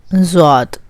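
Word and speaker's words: ضاد: Zwad. Again, rounding of lips, and you just put a dot over it.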